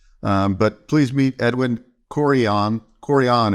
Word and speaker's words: Carrion: Carrion is correct. There you go. Said it right. Carrion. Carry on, like carry on. Okay, carry on.